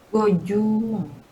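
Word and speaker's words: 五十万: 500.000 gimana jadi bacanya? Lima Gojumang.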